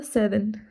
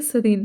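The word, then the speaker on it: serene: Eighth word था हमारा सेरेन, sorry, देखा मुझसे भी कन्फ्यूजन हुई। सरीन, क्या वर्ड है ये? सरीन, प्रोनाउंस सही करिए, प्रोनाउंसिएशन सही करिएगा, सरेन नहीं है, सरीन।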